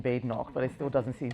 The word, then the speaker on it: Badenoch: I always tell them there is no bad in Badenoch, but it still doesn't seem to stick.